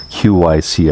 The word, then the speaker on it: QYSEA: and by the way that's the way you pronounce the company is Qi see I had a video chat with them and